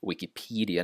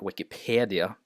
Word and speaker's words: Wikipedia: You notice the E here. Wikipedia, not Wikipedia.